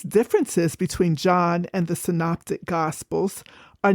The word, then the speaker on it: synoptic: In a previous episode, I mispronounced this word. I pronounced it synaptic. So don't be like me. The proper pronunciation is synoptic.